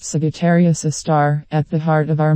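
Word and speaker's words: Sagittarius A*: The telescope array also monitored a dim source of radio noise called Sagittarius A, pronounced Sagittarius A star, at the heart of our Milky Way galaxy.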